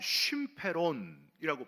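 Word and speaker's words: συμφέρον: 헬라어로 쉼페론이라고 발음을 합니다.이 단어는 특정한 개인의 이익이 아니라 공동체 전체의 유익을 나타낼 때만 쓰는 그런 단어입니다.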